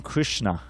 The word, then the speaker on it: Krishna: this material extension so the very name krishna is uh composed of two syllables krish and na it is a verse